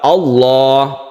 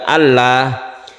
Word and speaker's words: Allah: mufakhamah itu istilah lain yang jelas cara membacanya yaitu ditebalkan seperti lafaz Allah menebarkannya seperti itu bukan Allah contohnya yang ini kita kalau membaca doa allahumma seperti itu bukan Allahumma kalau sebelumnya itu kasrah